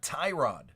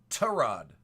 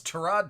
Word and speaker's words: Tyrod: is an absolute Injustice his name is not Tyrod it's trod it's trod Taylor but one of his coaches pronounced it Tyrod and it stuck and nobody